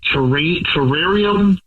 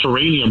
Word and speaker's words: terrarium: Uh I took her to an indoor plant terrarium. It's My pronunciation's bad. You say terranium, but I know it's something else. Terrarium, right? So where indoor plants are, a workshop.